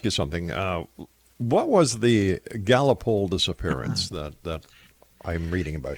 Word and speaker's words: Gallipoli: What was the Gallipoli disappearance that I'm reading about here?